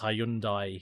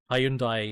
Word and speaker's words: Hyundai: Um, in Australia, because of the Australian accent, it is pronounced Hyundai here. Um, yeah, Hyundai is what I'd hear people say here.